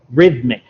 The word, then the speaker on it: rhythmic: So you used this word in your first answer, but just your pronunciation wasn't quite right. So it should be rhythmic.